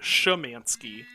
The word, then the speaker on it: Szymanski: back here uh z i pronounce it samansky but I'm pretty sure that's wrong the rest of my family pronounces it shamansky um I think the correct sorry I'm just hearing the pitch pitch down anyway um I think the correct pronunciation is like zunski or something like that uh but no I